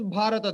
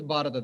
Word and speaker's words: Bharata: Like in Tamilians, they don't have the bha. They call it ba.